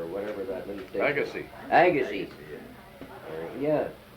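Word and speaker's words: Agassiz: whatever that means Legacy Agassi yeah I I looked at it and I pronounced it the way it was spelled well anyway you don't do that we did that too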